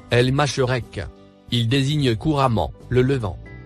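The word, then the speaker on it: المشرق: Le mot en surbrillance vert se prononce El Masherek.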